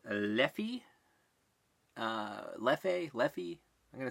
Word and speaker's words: Leffe: it's widely available its leafy leafy leafy I'm gonna say levy it's pronounced a number of ways depending on who says that I suppose it's one